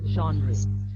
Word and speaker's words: genre: the pronunciation also and this is a french word actually so genre so this is about